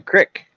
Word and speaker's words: creek: it's full of water a creek a creek no it's a crick a crick okay like you got a crick in your neck well you guys are